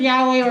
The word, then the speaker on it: Yahweh: Yep, Yahweh is actually how to pronounce it.